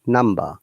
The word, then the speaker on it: number: Okay, but when it becomes with er, number, we must pronounce b. This time b is not silent. You see, number.